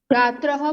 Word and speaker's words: छात्रैः: छात्रः पुस्तकानि लिखन्ति।